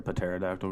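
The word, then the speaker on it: pterodactyl: why can't you hear Patera doctor go to the bathroom because the P is silent bingo we get a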